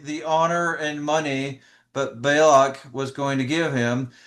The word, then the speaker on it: Balak: He was tempted by money from Balak, right? Yeah, from Balac.